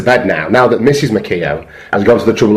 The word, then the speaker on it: McKeown: Apparently it's been changed now and is now McKeown, not McEwen.